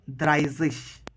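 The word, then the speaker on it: dreißig: अब जैसे स्वांजिश जो कि 20 था उसको हम स्वांजिश पढ़ते हैं, तो उसी तरह से 30 के लिए है द्राइजिश। देन अगेन 31 आ गया।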